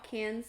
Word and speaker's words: Cannes: Is that how you say it? Mm-hmm. Cans. Cans? No, it's not cans. It's can, for sure. I was like, I said cans, and I was like, that's not right.